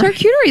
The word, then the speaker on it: charcuterie: Why are you saying it wrong? Why is it? It's charcuterie. That's how you say it.